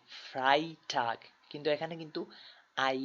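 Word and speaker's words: Freitag: Donner Starc fry টাক এখানে দেখেন ই আই এখানে আমরা বলবো আই ফ্রাই টাক কিন্তু এখানে কিন্তু আই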